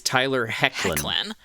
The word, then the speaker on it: Tyler Hoechlin: But his name is Tyler Hoechlin.